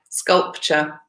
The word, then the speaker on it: sculpture: wedding in sculpture yeah sculpture if you think of the word future so this T you are a Torah